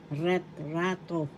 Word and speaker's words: retrato: in spanish this is ret rato ret rato first syllable ret second syllable ra third syllable to the accent is in the second syllable so you pronounce it as retrato picture in English tagalog